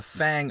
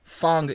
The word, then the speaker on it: Fang: arena arena is the Fang arena arena Phong if you're if you're really trying to pronounce it correctly I guess in Chinese it's like Fong but I'm calling it Fang because Fang sounds cooler so it's the Fang